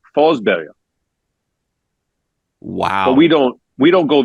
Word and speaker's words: Forsberg: Peter Forsberg in Swedish is actually Forsberg.